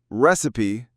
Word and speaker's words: recipe: Recipe, on the other hand, has three syllables. Receipt, two, recipe, three. We stressed the first one and the second is a recipe recipe. Recipe. I know it's tempting to say receipt, but it's recipe.